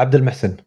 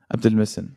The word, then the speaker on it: Abdulmohsen: say it actually yeah that's actually close yeah abdel messen abdel messen okay cool yeah so